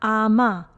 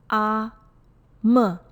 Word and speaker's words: Ama: Please note it is not Ama or Ama. Correct pronunciation is Ama.